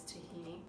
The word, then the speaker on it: tahini: Okay, and the next thing is some sesame paste, which is tahini. This brand says tahina, but it's tahini. It's just a variation, I believe, in the way they pronounce it.